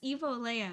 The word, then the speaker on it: Evo Leia: and then he's like, "You know it's Evo Leia, right?" And I'm like, "What? What? I've been pronouncing your name wrong."